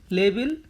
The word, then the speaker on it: labile: Next word लेबिल। लेबिल का मतलब होता है लाइकली टू चेंज। क्या होता है? Likely to change. तो लेबिल एग्जैक्ट प्रोनाउंसिएशन है, हम इसको पढ़ेंगे लेबिले।